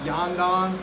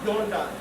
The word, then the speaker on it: Yondan: There is no apparently ah sound in Japanese, so it's not yandan, it's yondan, Yondan. longo, yondan.